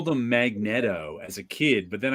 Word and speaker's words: Magneto: conversation in the bullpen whether it's Magneto or Magneto and it was like he's a great villain there's no way Neato is in his name but that's the actual word Magneto it's a thing exactly